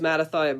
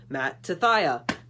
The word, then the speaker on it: Mattathiah: Hi, my name's Mattathiah Burt, and my favorite memory was whenever Mrs. Miles would take attendance, and instead of saying my name, she would just slap her thigh and say, because it's Mattathiah.